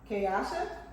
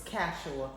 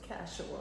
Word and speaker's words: Kashua: Tell me if I'm wrong. Kayasha? You're wrong. It's Kashua. Woo! See how beautiful it is? Kashua.